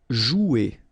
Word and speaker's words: jouer: Okay, remember you combine this O and U, you get the sound OU, so joue. Okay, J is pronounced like J, joue, and then ER here, you combine them at the end, et.